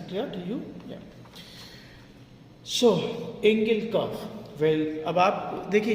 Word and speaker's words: Engel: कुछ टीचर्स इसको बोलते हैं एंजल curve. Well south Asian लोग जो है उसको एंजल बोलते हैं, बट आप यूरोपियन अगर बोलेंगे तो वो लोग उसको एंगल बोलते हैं. तो correct pronunciation should be एंगल curve.